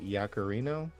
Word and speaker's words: Yaccarino: Linda Yaccarino is how you pronounce her last name.